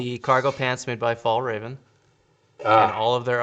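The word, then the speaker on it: Fjällräven: There's a silent J. It's got lots of special characters I don't know how to say. But if you ignore those, it is pronounced as Fall Raven.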